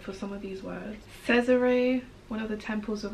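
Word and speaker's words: Cesere: Caesare, one of the temples of Akramoth. I would have said Caesar. I would have said Caesar. Oh, so it's Caesar. Great, beautiful, brutal wings, membranous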